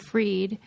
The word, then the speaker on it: Fried: book about Sam bankman freed and by the way my last name Theory his last name is bankman and then freed but it's spelled fried and like now he's